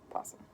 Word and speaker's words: possum: It's possum, the O is silent.